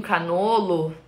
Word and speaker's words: cannolo: Se você quiser aí no seu negócio tratar com a pronúncia correta do italiano, 1 cannolo, 2 cannoli, 10 cannoli, tá tudo certo.